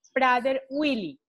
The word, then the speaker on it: Prader-Willi: María Elvira García es ingeniera industrial y actualmente es la presidenta de la Asociación Colombiana del Síndrome Prader-Willi. Voy a pronunciarlo así. ¿Es correcto, María Elvira? Es correcto, Ivette, es correcto.